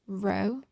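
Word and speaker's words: ρ: with the letters and this here is a greek letter it's pronounced row and that's the letter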